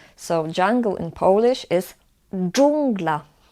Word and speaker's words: dżungla: It's similar to English J, like in the word jungle, but again in Polish it's harder. So jungle in Polish is dżungla, dżungla.